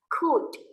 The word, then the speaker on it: could: Oke, bacanya itu L-nya itu silent ya. L-nya nggak usah dibaca. Could. Langsung D saja.